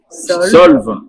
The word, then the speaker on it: Solves: Bonjour, aujourd'hui nous recevons Ghislaine Solve. Voilà, sans prononcer le S.